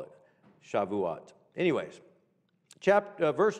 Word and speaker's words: Shavuot: pentecost or uh sukkot um no shavuot shavuot shah vua is how it's pronounced that's what the jews call it shavuot anyways chapter verse 2 chapter 10 now the